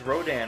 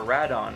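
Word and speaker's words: Rodan: is the vinyl Wars wrote in or rad on however you prefer to pronounce it but I'm just a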